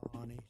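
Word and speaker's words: Fani Willis: The same DA, Fannie Willis. Right, Fannie Willis. She treated you very unfairly. She goes by the name of Fani, even though it's Fani. She wants it pronounced Fani.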